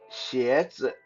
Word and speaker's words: 鞋子: Now, shoes in Mandarin is 鞋子, 鞋子, that's like Shia and Je, 鞋子.